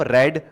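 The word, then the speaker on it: read: बस उच्चारण क्या होता है? रीड, रेड, रेड।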